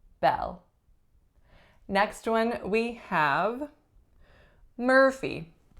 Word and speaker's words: Murphy: one we have Murphy Murphy two syllables winner is on the first or even though it is spelt as you are there's no ooh quality to the ER sound the pH makes that F sound and the final vowel is a tense e Murphy Murphy next one